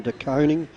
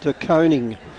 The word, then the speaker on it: DeConing: a 200 centimetre forward in Tom DeConing, and we've been told that's the right pronunciation. Yes. Everyone gets it wrong, but as this Not us. boy goes forward, we'll be calling him Tom DeConing, because his mum actually told us.